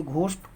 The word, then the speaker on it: ghost: और नियम, जब जीएच किसी शब्द के प्रारंभ में घ पढ़ा है, जब जीएच किसी शब्द के प्रारंभ में हो तो घ पढ़ा जाता है। जैसे घोष्ट GHOST, घोष्ट माने भूत।